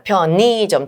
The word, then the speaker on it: 편의점: 자 그다음에 세 번째 편의점. 자, 편의점의의 역시 단어의 이음절 이하니까 자, 니은이 연음되면 니은이 연음되면 자, 의도 되고 이도 되니까 표의점이 될 수도 있고 표니 의로 발음하냐 이로 발음하냐에 따라 편느의 점이나 편니점 둘 중에 하나 되죠.